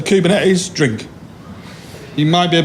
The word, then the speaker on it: Kubernetes: they have different pronunciations this one has a lot of different pronunciations we've got Cuban is Cuban air is community's Cuban A's and I'm gonna clean up tonight it's kubernetes cuz I'm from Yorkshire so therefore I'm right okay so kubernetes if you